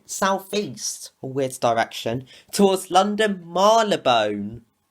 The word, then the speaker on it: Marylebone: with direction towards London Marlow bone or is it marylebone I don't know because according to the baker Lou line it's pronounced Milo bone but according to Children Railways it's pronounced marylebone so I guess you guys